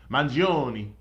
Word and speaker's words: Mangione: I know I've botched his last name, and if I like the artist Mangione. so much, I should know how to pronounce it.